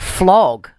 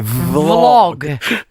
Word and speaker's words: vlog: Well, when I say vlog, it sounds like flog. Flog era. No, your vlog. No, if you pronounce the V, vlog.